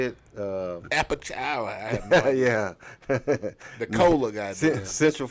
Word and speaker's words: Apalachicola: Apalachicola.